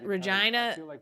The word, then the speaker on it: Regina: know it was in Regina Canada yes that's how you say it Regina Saskatchewan whether it was